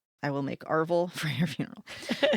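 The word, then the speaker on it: arval: Funeral guests received this cake called Arville. I'm assuming that's how you say it. A R V A L. Arville, which were spiced sweet bread or cakes wrapped in paper and sealed with black wax.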